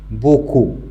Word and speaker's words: beaucoup: Beaucoup. Il y a des élèves qui peuvent dire beaucoup, mais c'est faux. On ne doit pas prononcer le P parce que c'est une lettre muette.